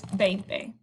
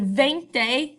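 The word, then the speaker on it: veinte: um is actually pronounced instead of with the v it's pronounced with a b so um right here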